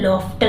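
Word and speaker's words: laughter: गजते हुए अब देखिए यह लॉफ्टर है लफ मतलब हसना टी आ लॉफ्टर थ मतलब के सा यहां पर भी देखिए जीच को फ पढ़ा जाता हा हा हो फर्डिनेंड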